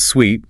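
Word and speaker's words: suite: The pronunciation is sweet, rhyming with sweet like sugar.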